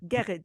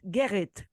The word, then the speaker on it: Gerrit: Because so I learned to pronounce it. Gerrit. Gerrit.